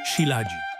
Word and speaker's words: shilajit: Prawidłowa wymowa to siladzik.